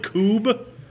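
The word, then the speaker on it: Kubb: Have you guys ever played Coob?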